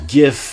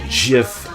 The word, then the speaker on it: GIF: but uh so bigoted calls it a gift I call it a jiff obviously the Gees passed like